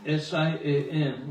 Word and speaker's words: Siam: And SIAM, which is, very pronouncing Siam.